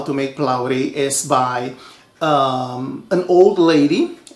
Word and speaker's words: Phulawri: In my country, the Indian people would say Phulawri, the correct way, or Phulawri, with less of an R sound.